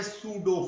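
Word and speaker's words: pseudo: इनको नाम देते हैं सूडो force, P एस यू डी ओ, पी यहां पे साइलेंट है, सूडो फोर्स।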